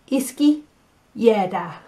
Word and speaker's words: izquierda: Izquierda, okay?